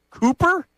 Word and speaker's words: Kuper: Vikings O-line coach Chris Cooper, hired by the Eagles per Zach Berman. It's not spelled like Cooper, like hanging with Mr. Cooper or Cooper DeJean. It's Kuper. And because I'm not well-versed